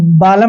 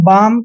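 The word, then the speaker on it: balm: भी यहां इसको हम बालम नहीं पढ़ते हैं इसको पढ़ते हैं बाम क्योंकि एम से पहले एल आया है तो एल साइलेंट रहेगा भा एल का उच्चारण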